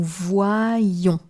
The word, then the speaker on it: voyons: The only thing you need to know is that the Y counts for two I's. One to hear wa, one to hear I. This is why you hear nous voyons.